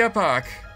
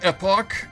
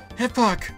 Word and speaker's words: Epoch: It's not Epox, it's the Aerodalton Imperial! Mwahaha, you are excess baggage! Make like the wind and blow out of here! You sound like a fool when you say it wrong.